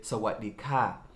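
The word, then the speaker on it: สวัสดีค่ะ: And if you're a woman, you're going to say Sawadee ka.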